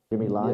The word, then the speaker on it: Jimmy Lai: Is it pronounced Jimmy Lai is the head of Apple News? Jimmy Lai?